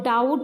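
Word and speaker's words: doubt: तो के साइलेंट है और डाउट है दूसरा तो बी वाला साइलेंट है तो इस तरीके से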